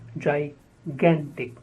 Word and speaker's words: gigantic: sure two syllables Jess sure the next is gigantic many people pronounce it wrongly as like chanting it is gigantic yeah the stress on gap gigantic huge gigantic